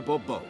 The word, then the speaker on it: Bombo: yet as monsieur de bombo the emphasis falls on the last syllable see now i'd rather